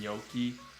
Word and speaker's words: gnocchi: pronounce it which is the way that I heard a lot of my older Italian thing I pronounce it and Yoki and then there's uh there's like four different pronunciations of the word and they're all right in different dialects it smells good and